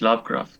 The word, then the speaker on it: Lovecraft: Yo lo pronuncio, bueno, Howard Phillips Lovecraft.